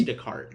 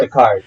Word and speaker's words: Descartes: Okay, so his name is spelled like Descartes. Yeah, it's Descartes. But I'm just saying, because it's the French, it's it's Descartes. That's what I said. How it's spelled. As a Spanish speaker or someone that maybe speaks more Spanish, that's probably how you'd say it.